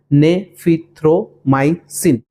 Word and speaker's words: Nafithromycin: pronounce लिखा हुआ आएगा आप इसे इस प्रकार से प्रोनाउंस कर सकते हो ने फि थ्रो माइस सिन इस दवाई को वो